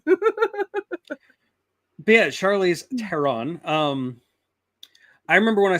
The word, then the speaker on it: Theron: like she can play teron by the way is it teron really is that how it's pronounced it's it's that um Germanic hard th uh that makes sense like theander tall sorry no that's fine